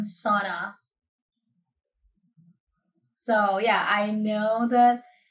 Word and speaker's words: sauna: So, yeah, I know that's the right pronoun- I'm not sure if that's the way you pronounce it, but it's not sauna.